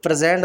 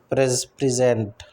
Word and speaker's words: present: प्रेजेंट, प्रेजेंट a gift versus प्रेजेंट verb to show deliver, प्रेजेंट, ठीक है, same spelling but the stress shifts changing both sound and meaning, classic homograph है ये क्या है, homograph है ना, बिल्कुल।